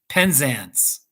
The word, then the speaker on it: Penzance: that that was fun penzance penzance okay the a in penzance is pronounced like the a in dance penzance all right that's cool